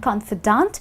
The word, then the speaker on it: confidant: Remember and listen to the pronunciation, It's confident and confidant and the spelling to one with an "E" and the other one with an "A".